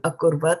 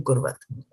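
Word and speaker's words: अकुर्वत: And you're saying, why should it be Kim Akurvat and why is it not Kim Kurvat, right?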